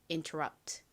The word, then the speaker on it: interrupt: interrupt. 발음 따라해보세요. interrupt. 한 번 더 해볼게요. 이 rub 부분에 강세가 있습니다. interrupt.